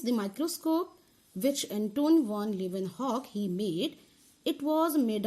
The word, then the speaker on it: Leeuwenhoek: I mean how to pronounce Leeuwenhoek? Leeuwenhoek and together Leeuwenhoek.